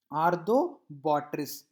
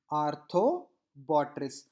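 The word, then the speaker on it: Arthrobotrys: Now arthobotrytis, again arthobotrytis, arthobotrytis. Okay. Now dactylella, again dactylella, dactylella. I think so I pronounced it, I think you understood my the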